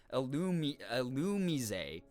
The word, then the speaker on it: Illumise: Illumise. I know my brain will not remember that because I've been saying it wrong for so long, but I appreciate that. Illumise. Mise. Oh, is it like French?